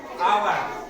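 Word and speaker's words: hour: लिखा हुआ है ओवर अवर यहां लिखा हुआ अवर अवर में देखो ह लिखा हुआ है लेकिन ह का उच्चारण नहीं हो रहा है ह क्या हो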